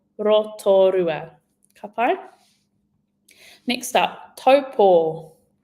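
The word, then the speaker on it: Taupō: I quite often hear this getting mispronounced. And I actually saw a really funny picture online, and it was a picture of someone's toe and then a picture of a cat paw. So if you needed a visual cue to help you with the pronunciation of taupo, give that one a go.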